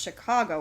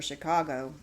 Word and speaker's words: Chingachgook: For instance, one of his acute Indian experts, Chingachgook, pronounced Chicago, I think, has lost the trail of a person he is tracking through the forest.